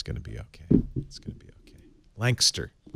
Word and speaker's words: Lancaster: it's gonna be okay Lancaster like as few syllables as possible looks like well Louisville